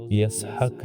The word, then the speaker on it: یسحق: تاریخی روایات کے مطابق اسحاق کے اصل تلفظ یسحق ہیں۔ یہ عبرانی زبان کا